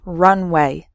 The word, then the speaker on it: runway: So the first word has 3 syllables, runaway, and the second word has just 2 syllables, runway.